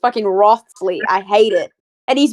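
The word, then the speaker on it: Wriothesley: You're talking about Riosley. No. No. Who's the anime boy? Everyone said like the werewolf dude. The Yeah. And he's just a skinny name Riosley. And it's actually pronounced Rothsley.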